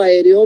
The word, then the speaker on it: aéreo: Si les pregunto aéreo, muchos de ustedes me van a decir que tiene 2 sílabas. Y no es así. Las vocales fuertes siempre se van a partir. Entonces, A, parto, es una sílaba. E es otra sílaba. D es otra sílaba. Y O es otra sílaba. Entonces, voy a tener tetrasílaba en aéreo, ¿no? Van a ser 4 sílabas.